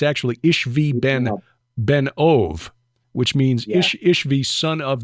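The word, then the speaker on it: Ishbi-benob: by one of them whose name is Ish ishbi benab is how it looks but it's actually ishvi Ben ove which means ishvi son of the medium um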